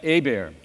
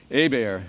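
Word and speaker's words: Hebert: finish up with Jeff a beer now you gotta have to have had to correct people with the pronunciations in his a bear is silent H and an accent on the e it's a good local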